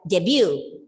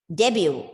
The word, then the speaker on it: debut: yes w debut but the letter t is silent okay silent yes and the first syllable is stressed and you pronounce the word as debut debut okay the first syllable is stressed debut and the meaning is